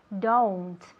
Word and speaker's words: don't: yes very good okay remember that it's not done it's don't it's like an o u sound don't one